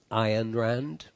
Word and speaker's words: Ayn Rand: your consciousness I unrendered Rand actually pronounced iron Rand do you know who